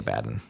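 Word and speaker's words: Abaddon: It the guy says it Abaden and then now Games Works like it's definitely Abaden.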